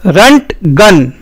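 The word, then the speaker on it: Röntgen: physics के field का उसके नाम का उच्चारण होगा रंट गन अब आप जो चाहे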